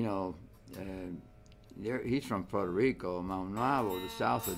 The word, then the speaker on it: Puerto Rico: Spanish instruments Puerto Rico Puerto Rico Accent on this last syllable foreign so